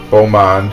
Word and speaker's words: Beaumont: want to say blue I think it's Bo when it's b e a is it b-e-a-u how do you spell it b-e-a-u-bo oh Bo yeah like a boyfriend so okay here we